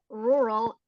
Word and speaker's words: rural: here rural it sounds a bit tricky because the R is doubled but you can just pronounce as oke right missarian so thanks for trying.